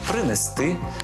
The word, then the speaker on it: принести: останній склад занесли прибули до речі так само само наголошуються дієслова віднести принести занести перевести третя помилка так само